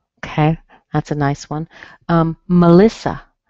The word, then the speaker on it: Melissa: Melissa. You see the E in M-E-L-I-S-S-A, but it's a schwa. Melissa.